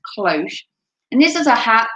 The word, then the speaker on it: cloche: again during wartime and its name is derived from the french word cloche which means bell so